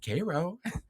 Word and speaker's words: Cairo: And I said, well, you know, is it Cairo, Cairo? How do they say it? And I remember like, we're going to have to figure this out. And so I called I looked it up. I looked up the the number for, you know, Cairo, Cairo City Hall, and the woman answered the phone and said, "Kairo." And I said, "Thank you."